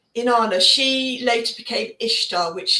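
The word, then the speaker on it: Inanna: So, if we look at the ancient Mesopotamian, ancient Samrian goddess, Inana, she was a very powerful goddess. Say her name again. Anana. Inana. Inana.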